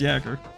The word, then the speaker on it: Jaeger: Like Jaeger. Something like Jaeger. It's Jaeger. So they've got like a